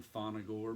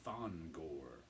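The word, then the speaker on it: Thongor: pretty nice piece um i always want to put an extra syllable in that and call him fona gore but it's thon gore creatures on the loose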